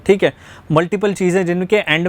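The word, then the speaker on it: Hamlet: जैसे यहाँ पर दिया गया है, वो पहले पूछ रहे हैं हैमले का, ठीक है, हैमलेट इसे हम प्रोनाउंस करते हैं।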